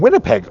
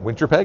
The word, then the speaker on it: Winnipeg: an American who didn't know how to from Winnipeg like it was a Canadian who butchered it winter Peg winter Peg did you ever go to Blondies or hear